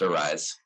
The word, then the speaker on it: ARYSE: but some people mispronounce it so it is pronounced arise uh it just spelled arys um we actually